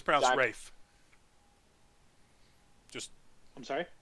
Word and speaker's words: Ralph: and it's proud of Rafe just I'm sorry it's pronounced Rafe for some reason you know it spelled Ralph it's browns ray Fiennes